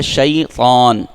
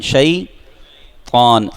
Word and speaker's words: شیطان: شیطان نہیں پڑھیں گے، بعض اس کے ساتھ واو ملا دیتے ہیں، واو نہیں ہے بلکہ کیا ہے؟ شیطان پڑھیں، شیطان، تو ہے نا، تو کو موٹا پڑھتے ہیں، تو کا تلفظ کیا ہے؟